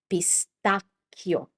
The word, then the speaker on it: pistacchio: This is pistacchio. Pistacchio. Because you have a c h, so it's hard. It's not pistacchio, it's pistacchio like bruschetta.